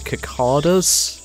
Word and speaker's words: cicada: how do you pronounce that? Is it like, with S's or cicadas? I mean, that's how it'd be pronounced phonetically. From the few trees growing here. Cicada. Right, so it is an S, okay.